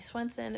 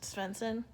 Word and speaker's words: Swenson: Jenny Carr and Tommy Swenson at different times. That reminds me of the time we felt like we had to make sure it wasn't pronounced Svensson.